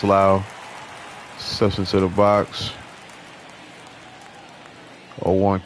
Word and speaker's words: Lowe: Some say Lowe, some say Lau, but I think his is pronounced Lau.